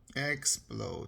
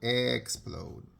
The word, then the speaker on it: explode: about the word though explode let's let's look at it carefully well the E is silent it doesn't say anything we know that the